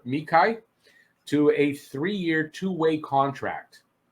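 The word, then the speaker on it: Xhekaj: that deal arbor mikhail i know that's not doesn't look like that's how you pronounce it but it's arbor mechai to a three-year two-way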